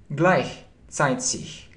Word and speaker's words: gleichzeitig: Получается gleichzeitig. Видите? Gleichzeitig. Видите, как читается, как I комбинация. Это как he, получается gleich. И далее как c. Gleichzeitig.